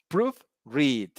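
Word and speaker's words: proofread: self-confidence and the rest the compound adjectives and the compound verse they have a stress on the second part for example good looking second hand baby sit proof read okay proof read you see the stress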